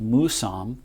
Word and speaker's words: Mousam: and she pronounced it, it's supposed to be pronounced Mousam. She said it means grandfather. That's very important to me because I'm about to become a grandfather myself. This valley's always been named Mousam.